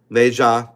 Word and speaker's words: Nezha: I do that right this is the film nja 2 that's how you pronounce it nja um that's the main character